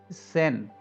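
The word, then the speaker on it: zehn: कुछ लोग इसको जैन जैन करते हैं, बट इट्स not Jain, सेन, तो इसको सेन ही प्रोनाउंस कीजिए आप।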